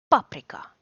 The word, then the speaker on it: paprika: is not hard either the stress is always on the first syllable that's the only rule it never moves like in other languages for example paprika so it's always on